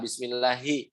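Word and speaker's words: بسم الله: Yang kedua, Bismillahi. Nah, huruf H itu harus jelas. Kebanyakan dari kita kalau misalkan menyebutkan huruf H malah jadi pelan dalam lafaz Allah. Contoh yang salah nih. Bismillahi hi gitu. Nah, jadi melemah hi padahal harus tetap ada power. Ha hi. Nah, gitu. Bismillahi. Nah, bismillahi. Begitu. Hi tetap hi, jangan bismillahi.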